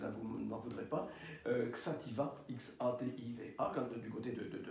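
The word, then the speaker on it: Xàtiva: petite ville qui s'appelle, alors je prononce à la française, hein, vous n'en voudrez pas, Xativa, X-A-T-I-V-A, quand, du côté de Valence.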